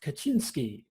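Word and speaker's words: Kaczyński: now all right Josh hit me with some polish pronunciation of people's names right so today we are going to be talking about the brothers lick and your suave Kachinsky these two polish men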